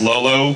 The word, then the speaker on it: L0L0: Just to be clear, it's pronounced Lolo, but it's actually L0L0, because it's really difficult to tell on screen, so if you want